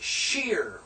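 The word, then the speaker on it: שיר: book this is Sheen notice the dots on the right therefore it's sh right sheer notice the H is an i and then the yod and then the re this is pronounced sheer which is song and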